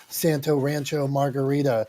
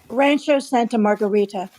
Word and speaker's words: Rancho Santa Margarita: in New York Pittsburgh's different than debbi and Santa Rancho Margarita how do you say that Debbie Rancho Santa Margarita I wish I lived in a place called